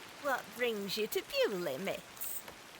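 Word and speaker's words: Beaulieu: Yeah, there is a place called Ble except it's spelled B I E U L I E instead.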